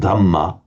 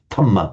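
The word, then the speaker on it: dhamma: fanatics because just as English speakers find it difficult to say the sounds Buddha dh dhama so equally the that the ties just unvoice it tama buddha so sambu if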